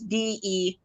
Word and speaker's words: Dey: And then my last name is Day, like D. You can pronounce it Day, but it's Dey.